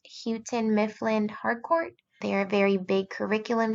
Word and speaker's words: Houghton Mifflin Harcourt: So our district follows HMH curriculum, and if I'm not butchering it, I believe it's pronounced Houghton Mifflin Harcourt.